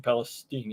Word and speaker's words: Palestine: pretty far away from East Palestine or Palestine that's how you pronounce it um a couple of